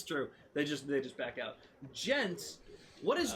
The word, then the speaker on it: djent: Gent. What is gent technically short for?